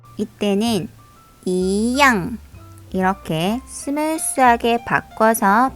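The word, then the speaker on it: 一样: 하지만 이 뒤에 제4성이 올 경우에는 제2성으로 바뀌게 되는데요. 이때는 一样 이렇게 스무스하게 바꿔서 발음해 줘야 합니다.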